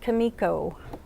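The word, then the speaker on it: Comico: It's pronounced Kamiko.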